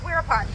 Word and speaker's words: Virapol: He spells it this way as Virapol, right? Veerapol. But it's pronounced Wirapon. Anytime you see a V in Thai, it is not pronounced as a V because that's not a sound that the Thai language makes. Anytime you see a V, it's going to be a W.